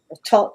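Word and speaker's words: Thoth: stuff behind me and tot or tote because they don't pronounce the h's i always used to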